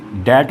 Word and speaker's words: debt: इसके बाद आते हैं, अगर टी से पहले कहीं पर भी लिखा हो तब भी बी साइलेंट हो जाता है। जैसे DEBT डैट पढ़ा जाता है और SUBTLE को सटल पढ़ा जाता है।